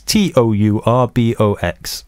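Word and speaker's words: TourBox: so we have a tour box to give away how do you spell tour box uh just as it sounds t-o-u-r-b-o-x all right tour box tour box tour box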